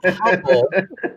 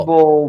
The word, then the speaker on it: Humble: all right it's not humble it's not humble it's humble humble Umble drop the H it's just Umble well it's spelled like